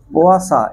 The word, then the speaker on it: Poisson: পোয়াশা এরকম ঠিক উচ্চারণ, মানে হ্যাঁ ইংরাজিটা আমি বলছি, পোয়াশা অনুপাত, পয়সন, POISSONS, রেশিও, এটা একটা সায়েন্টিস্টের নাম পোয়াশা। হ্যাঁ বাংলাটা, ইংরাজিটা দেখ পয়জনস টাইপের, মানে বিষ ভাবিস না।